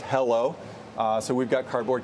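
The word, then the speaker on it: HELO: eded Equity laded overlay the ticker wait for it is h e l pronounced hello uh so we've got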